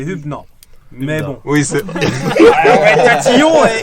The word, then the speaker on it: Hübner: avec la Senzai, mais Alors, si tu veux avoir une prononciation qui se rapproche vraiment de l'orthographe et de ses origines, c'est Hübner.